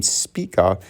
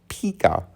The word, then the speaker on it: Spica: in because the name, my name Spica, is often, if not always, mispronounced as Pika or Mr. Pika. They say Mr. Pika, and I say it's Spica, and they say Pika, right?